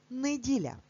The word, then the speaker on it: неділя: Це недарма, адже інколи говорячи цей день тижня, ми кажемо неділя і чуємо и, але на письмі ми завжди пишемо букву е.